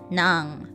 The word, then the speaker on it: nang: By the way, they're pronounced the same way. Nang.